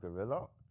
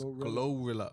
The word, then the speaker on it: Glorilla: I like how, you know what I like with Gorilla? She ain't on that wave. That's her sound. I think you're pronouncing it wrong. It's Glorilla. Glorilla.